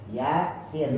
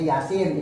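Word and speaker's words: يس: Yasin. Nah, yanya ini mad harfi mukhafa. Ynya nih mad harfi mukhafa. Ya, sinnya ini mad harfi musyba. Kalau mad harfi musyba dia 5 sampai 6 harakat.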